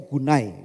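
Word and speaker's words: γυνή: bahasa aslinya dia itu dikutakan kata gune bacanya gunai gitu ya Dan itu bukan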